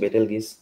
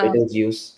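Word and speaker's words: Betelgeuse: আলাদাভাবে যদি বলতে যাই তাহলে আমার বাসায় ওয়াইফাই এর নাম হচ্ছে বেটেলগিস আর বেটেলজিউস, দুইটাই প্রোনাউন্সিয়েশন।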